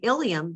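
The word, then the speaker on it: ileum: very different meanings okay you've got ilium and ilium these are really they sound exactly alike okay so the ilium spelled with an e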